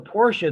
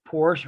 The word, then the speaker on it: Porsche: is so important the Porsche that keeps this Legacy going why because everybody wants to have a Porsche or a Porsche depending on how you want to pronounce it one or too the closest thing is